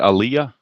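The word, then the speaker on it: Alyea: alah is it Aliyah is that how you pronounce it Aaliyah yes brand Ayah okay Brant Aaliyah okay Aaliyah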